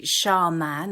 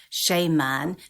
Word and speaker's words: shaman: it doesn't I think I think either or is fine but but what tends to happen is there is this confusion over the the second part of the word the second syllable of man people think sha man or sh man means a man but actually it's a